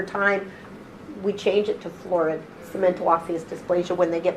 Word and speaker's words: Florid: Is the fluoride, I'm saying it wrong, Florid.